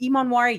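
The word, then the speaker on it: Emmanwori: If you guys do not know who Nick Imonwari, is it Imonwari?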